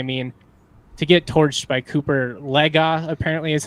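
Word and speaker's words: Cooper Legas: that but I mean to get torched by Cooper legga apparently is how you pronounce it I've been saying Legos for two years and so as every other broadcast I've ever heard but I guess it's Cooper Lega I gotta eat some Crow um because I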